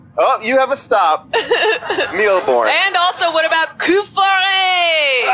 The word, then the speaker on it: Mille Bornes: Have you ever played Mille Bornes?